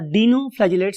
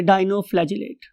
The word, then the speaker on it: dinoflagellate: column में पढ़ते हैं डाइनो और डीनो फ्लेट व्ट एवर यू वा प्रोनाउंस आई लव टू से डाइनो फजट आप लोगों को याद